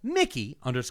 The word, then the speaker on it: Mickey: After that, we have Mickey pronounced just like the mouse, but without the capitalism.